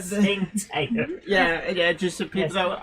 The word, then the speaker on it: Tsingtao: It's spelt Tsingtao. But Qingtao.